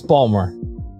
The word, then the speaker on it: Baltimore: A lot of people would pronounce the T in that a lot. No, it's Baltimore. That if you're from Baltimore, it's and now I'm conscious about saying the word, so now I'm gonna make it worse. If you're from the area, it's how you pronounce the city.